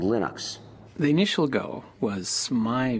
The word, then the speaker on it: Linux: linus and i really don't care how people pronounce my name but linux is always linux he developed a kernel and